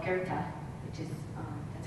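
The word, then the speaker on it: Goethe: famous saying and it's by a philosopher called guerta which is uh that's how it's pronounced g-o-e-t-h-e and i'm just gonna give you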